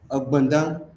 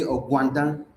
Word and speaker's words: Ogbandang: Because the Hausa language doesn't have the gba sound. If they want to pronounce or write some certain words, they will write GW instead of GB. What is gwa? You want to say Ogbandang, they will say Ogwandang. That's the way Hausas pronounce it.